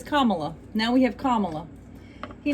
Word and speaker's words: Kamala: He says Kamala.